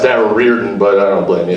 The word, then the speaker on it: Darragh Riordan: Darragh Riordan. Put your hands together. It's actually pronounced Darragh Riordan, but I don't blame you.